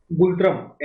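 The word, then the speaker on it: ngultrum: currency का नाम है गुल तरम एन साइलेंट है जी यू एल टी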